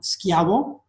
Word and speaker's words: Schiavo: actually an Italian word, and it's really pronounced Schiavo. It's pronounced Schiavo, right? Because the H here is mute. It makes the C a hard sound, like a K. So this is pronounced Schiavo in Italian, and Schiavo means slave.